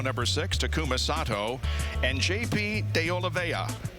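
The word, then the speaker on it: Oliveira: six tumas and JP deola and that is the way you pronounce it but I know there's an r in there but we asked and we got the information from the horse's mouth in the seventh row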